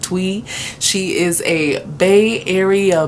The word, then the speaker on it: Thuy: luck by Twee now she spills it t-h-u-y but don't it up she pronounces it tweet she is a Bay